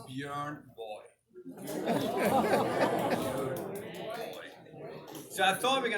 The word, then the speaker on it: Björn Borg: And, I'm sure he doesn't even know how to pronounce the name Bjorn Borg properly. It's not Bjorn Borg. It's not Bjorn Borg, John. It's Bjorn Boy.